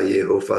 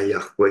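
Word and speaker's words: Yahweh: atau nama Yehova ya ya mau baca Yehova sebetulnya bacanya yahwe Ya mungkin lebih tepat yahwe kalau Yehova itu menurut sayaih salah sebetulnya ya tapi Kalaupun gak mau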